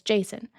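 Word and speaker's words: Jacin: I didn't think it was pronounced Jason at first because it's spelled J A C I N. But that's me in the English language not being friends.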